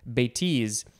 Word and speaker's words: bêtise: I think maybe I said bêtise before, but the emphasis is on the second syllable, bêtise, because that one describes me very well.